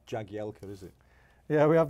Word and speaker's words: Jagielka: And obviously, it's pronounced Jagielka when I have to do something to camera.